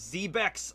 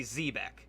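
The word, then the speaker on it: Xebec: Zebek or Zebek? Because in the anime, they say Zebek. And just, you know, I guess that might be how it's actually pronounced.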